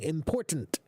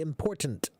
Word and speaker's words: important: So when spoken quickly, it's a soft D. When spoken slowly and clearly, it's a hard T. And that's true for many, many, many English words, including important. This is very important.